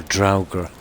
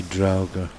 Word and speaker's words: Draugr: I think it's pronounced Dogger, is it? Or Draugr. It'll be Draugr. We'll cook these anyway.